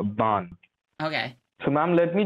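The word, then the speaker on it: Baan: It's B-A-A-N, but the pronunciation is like a Bond.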